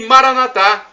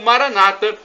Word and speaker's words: Maranatha: ele proverá Acredite e Maranatha como dizemos nós católicos ou Maranata como dizem os nossos irmãos separados dos Evangélicos ou protestantes não importa somos todos irmãos a pronúncia é um detalhe apenas e o significado